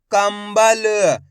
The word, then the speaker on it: कंबल: तो मिलके बन जाएगा कंबल अब दोस्तों अपन ने शब्द के अंदर आधा मा का उच्चारण करा है किसका आधा मा